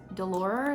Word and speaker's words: DeLauer: I think it's Delora is how you say his last name, but he's really, really, really awesome, so informative.